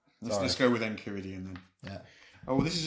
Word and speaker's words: Enchiridion: It's derived from the Greek, so I'm going to say Enchiridion. All right. Let's go with Enchiridion then.